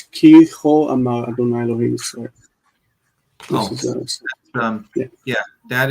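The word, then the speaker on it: כה אמר: It's not ko'amal, it's cho'amal, because it's connected with a conjunctive accent, the munach. And so it's ki cho'amal Adonai Elohim Yisrael.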